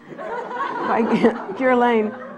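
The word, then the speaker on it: Guerlain: rare fragrance by G how do you pronounce that gan Gan she you don't use this stuff do you please I don't even want to smell it g Lane right that was the right thing to say where sandalwood and Jasmine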